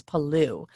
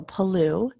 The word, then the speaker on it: Palau: the island it was palou and it looks like palau and i've actually heard people say that so it's according to this article it's palou but i've also heard people say hello so paloo is an island country